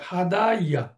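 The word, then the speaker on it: هدى: বা নাকিস বাদ যেমন হাদা হাদা আসলে এটা হাদাইয়া কিন্তু তার উচ্চারণটা হচ্ছে হাদা দা সে ডাকলো তার আসল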